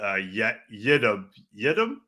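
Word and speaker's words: Yiadom: Got Isaac Yeah, Eden. And Devondre Campbell is like the opposite of I'm going to say the name wrong again. Yidam? Isaac Yidam, yeah.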